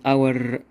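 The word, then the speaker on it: hour: كلمات زي كلمه اونست اونست ما بنطق الاتش بننطق الاو فنقول ان كلمه زي كلمه اور ما بن طقش الاتش ف بنقول برض ان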